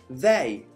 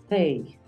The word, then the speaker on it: they: They. They. No es lo mismo decir they a decir they. Un poquito más suave.